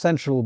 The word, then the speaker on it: SNTRL: And ironically, Central is pronounced Central because it's based off of Central Avenue in Yonkers.